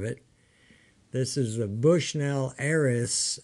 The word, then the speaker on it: Ares: this is a Bushnell heiress a-r-e-s I believe is how they say it it's got a four